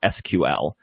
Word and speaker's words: SQL: And alongside that is this thing called structured query language, or SQL or SQL. And don't worry, both SQL and SQL are accepted pronunciations, so don't feel bad if you use one or the other.